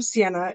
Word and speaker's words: Ceyenna: Tucker um I am Sienna it's pronounced just like the minivan so I hope the